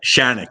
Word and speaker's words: Shanic: It's it's it's like panic. Like Shanic, like panic.